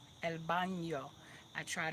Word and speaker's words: baño: El baño. El baño. I try to make sure I give that in that little nya, nya. Baño. El baño.